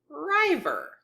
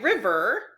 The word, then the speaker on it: river: or passage I'm reading I would first try rivver because this would be an open syllable that would be a long I and that doesn't make sense in the sentence so I would then try after the consonant to divide and I have a short vowel Clos syllable Riv so that's why river is River but diver I divide